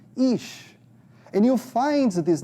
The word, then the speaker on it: Ish: And yes, the pronunciation is like double E, Ish.